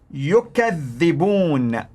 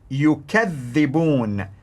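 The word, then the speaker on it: يكذّبون: The pronunciation of the word is yakdhibun, yakdhibun, which means they lie. They lie. They tell lies, basically. Now listen to the pronunciation in Warsh. Yukadhibun, yukadhibun. One was in Hafs, yakdhibun. In Warsh, yukadhibun, yukadhibun. They basically accuse others of lying.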